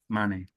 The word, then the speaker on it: Mane: I am going to go to Fairleigh Dickinson with Salif Maine. Is that how you say his name? Mane.